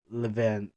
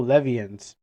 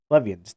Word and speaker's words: Levians: Oh, Levians. Okay, my bad. I mispronounced the name. Levians.